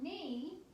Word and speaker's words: knee: You're going to see and hear the N sound spelled K-N in the word knee, and our multi-syllable words are perform and performer.